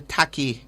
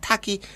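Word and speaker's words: Tacky: books because of the Taki Revolution, the so-called Taki Rebellion, the Taki War against the enslavers? And Tachi, as his name is properly pronounced, is an interesting story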